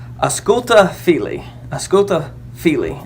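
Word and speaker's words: Ausculta fili: it's a schulte philly a schoolta fili is how it's pronounced and what that said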